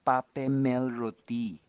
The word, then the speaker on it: Papemelroti: and my sister's name, the first syllables of our names. So me and my sisters, that's Patsy Pa, Peggy Pe, Meldy Mel, Robert, that's me, and Tina, that's T. So together it's Papemelroti.